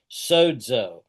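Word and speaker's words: σῴζω: And then soozo. Remember the zeta is a dz. Sodzo.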